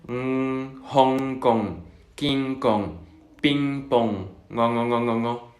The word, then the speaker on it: Hong Kong: hablantes de lengua española tendemos a pronunciar la G Hong Kong. Sin embargo, no hay que pronunciar esa G. Al menos cuando veamos este símbolo no hay una G. Es únicamente Hong Kong, King Kong, Ping Pong, ngo.